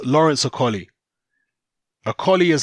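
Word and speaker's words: Okolie: rather than Macaulay because it's Lawrence or Kali a collie is how you pronounce Lawrence Akalis surname properly okay I know even Lawrence himself will say oh Kohli and he will use the English at anglicized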